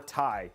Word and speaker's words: Ti: yeah but actually uh nvidia actually responded and said you can pronounce it ti or tai both are correct they didn't have they